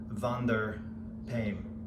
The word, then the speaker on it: Wander Paim: now i can't rule the r so my pronunciation is not completely correct van der payne and i already have one of his knives